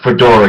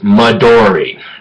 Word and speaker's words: Midori: So it's not Fedora, it's Midori. Okay, my bad for pronouncing one of my favorite alcoholic beverages bad.